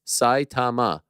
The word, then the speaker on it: Saitama: Rinya is from my hometown, Saitama, pronounced Saitama with emphasis on Sai.